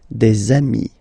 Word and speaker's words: amis: two, you will get des amis, okay, des amis. So ami, remember, doesn't change. Even if you get to write the S, then you don't pronounce it, okay.